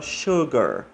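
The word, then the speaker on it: sugar: o Melqui Oi ok a Suggar a chover como se tivesse uma H aqui no meio do s e o a gente fala Suggar aportei lol o roteiro é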